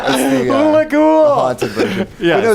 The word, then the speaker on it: Hula Ghoul: solving, and you have Hula Girl Stella. That would have been funnier if I could say her name right. Hula Ghoul is the Hula Ghoul. Hula Ghoul.